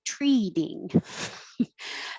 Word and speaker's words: treating: receive threatening letters thankfully treating this t in the middle changes to a d so it really does sound like treating thanks for treating me